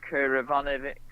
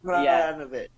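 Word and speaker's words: Krajinović: said like he was desperate to get that Kurivanovic. I don't know how you say it. Oh, Philip, him. Yeah, Philip Krajinovic.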